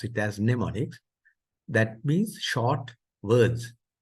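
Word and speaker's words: mnemonics: an operant so neonics the m is silent so you pronounce it as neonics that means short words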